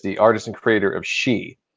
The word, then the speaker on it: Shi: artist and creator of She, which I always pronounced wrong. I don't know if you did that when you were a kid, but I always pronounced it Shy.